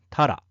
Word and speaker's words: 鱈: 左側がタラで、右側が恋だ。恋も海の魚ではないよ。タラは魚辺に雪で、恋